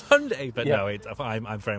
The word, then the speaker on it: Hyundai: what's the wrong answer I will say hi die yeah I know Hyundai want it called Hyundai yeah but uh even though their adverts in the past were wrong yeah they're trying to be like no it's Hyundai but no I'm I'm